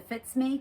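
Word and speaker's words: FitzMe: Calling it the Fits Me cowl because it fits me. Like it F-I-T-Z-M-E. I looked at that, but I didn't know how to pronounce it. Fits me.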